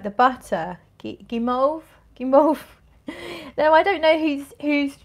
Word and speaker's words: guimauve: Guimauve.